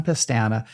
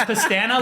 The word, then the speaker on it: Pestana: Pestana, Lehigh would still be sagebrush if it weren't for him.